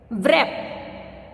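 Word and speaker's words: wrap: व्रैप, तो यहाँ पे हम डब्ल्यू को व बोलते हैं इसलिए हम यहाँ पे डब्ल्यू साइलेंट है।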